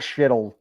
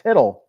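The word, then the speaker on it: Chytil: Danny says, for shittle, the C is silent as well. So I guess it's hiddle. It's not shittle. It's hiddle.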